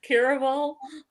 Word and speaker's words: Caraval: Caraval, like carnival, caraval.